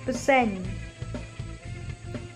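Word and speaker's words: bsein: Here this alphabet is called N, so it is bsen. B is silent, bsen.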